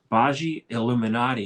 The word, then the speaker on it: Bhaji Illuminati: Her name is, and let me pronounce this properly, Bhaji Illuminati.